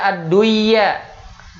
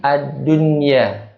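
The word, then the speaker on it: الدنيا: Ini juga ad-dunya, tidak dibaca ad-duya. Ya, tidak dibaca ad-duya, tapi ad-dunya.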